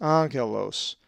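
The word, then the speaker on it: ἄγγελος: For example, the double consonant gamma gamma is always pronounced ng, as in anger. A Greek word that has the gamma gamma double consonant is angelos, which means an angel and is number 32.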